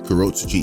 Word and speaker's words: Kurotsuchi: of the 12th Division Mayuri Kurotsuchi, did I pronounce that right? Kurotsuchi, yeah I did, to correctly suspect that the Quincy's are behind such a phenomenon.